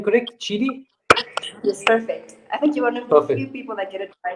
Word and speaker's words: Tshidi: tell us a man to your name Creek Chitti yes perfect I think you what what are the other pronunciations of okay cool tell us what's happening